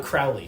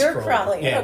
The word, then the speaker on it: Crowley: Crowley um he are you Crowley I'm Crowley he's crowy we we spell it the same day we pronounce it differently right no relation but